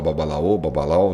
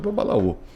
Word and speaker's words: babalaô: A pessoa fala babalau, né? É que a pronúncia acaba saindo babalau. Mas Sim. todo mundo conhece por babalaô.